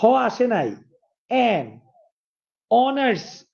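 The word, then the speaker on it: honours: অনার্স, এন অনার্স।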